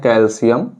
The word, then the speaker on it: कैल्शियम: जिसे हम कहते हैं कैल्शियम ठीक है प्रोनाउंस एट करेंगे कैलशियम ठीक है लेकिन लिखा जाता है कैल्शियम ओके तो बेटा मांगे